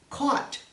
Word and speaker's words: caught: you watched before it's caught caught even though it's spelled with an you instead of an o it's pronounced the very same way bought brought caught spell